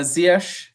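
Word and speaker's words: Ziyech: joining the team um i always pronounced his name wrong but zayet right zayek yeah i think uh ziyash the ish yeah i didn't have that right at all but yeah i mean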